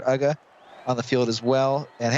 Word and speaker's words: Uga: As Uga, I think is how you pronounce it, Uga, on the field as well.